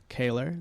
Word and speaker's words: Kehler: Kehler, that's how you say it if you see me in the wild. How do you spell it if they're trying to look it up? Kehler. It's A, like EH, like A. Like quintessentially Canadian.